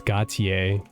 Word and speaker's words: Gautier: to say hi whenever you like oh it's Gautier I've been saying it wrong the whole time